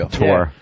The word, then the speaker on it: Couture: Randy Couture? Yeah, thank you. Couture.